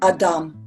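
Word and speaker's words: אדם: Adam is a word in Hebrew we pronounce it Adam.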